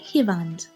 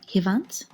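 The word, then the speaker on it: հիվանդ: In eastern Armenian, we say hivand. In Western Armenian, Hant. Can you say hivand or hivant?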